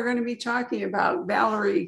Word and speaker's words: Valery: It's just Valery, yeah.